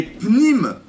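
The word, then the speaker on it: פנים: Parce qu'en fait, le panim en hébreu, panim c'est le visage. Et pnim, l'intériorité des personnes, ça s'écrit de la même manière. Comment? Le bruit. Que le bruit dans les cours, que le visage en hébreu c'est panim, et pnim, l'intérieur, ça s'écrit pareil. P, Nun, Yud, même Sofit.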